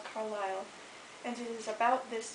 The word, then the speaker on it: Carlisle: settlers to move there carlisle pronounced as you may have noticed with the accent on the second syllable was named after an